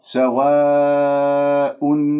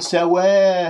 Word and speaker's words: سواء: سواء عليهم، لاحظتم؟ ولا أقول سواء سواء، هذه إمالة في الألف، لأنه أنت تبتسم قليلا وتسحب اللسان إلى الخلف وتجعله منبسط، فيطلع عندي صوت الألف ممال، فانتبهوا.